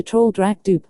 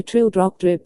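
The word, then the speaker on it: Traldragdubh: and my retinue to troll dra dup or Trill Dr drip for it is pronounced both ways as near as I can remember by a party of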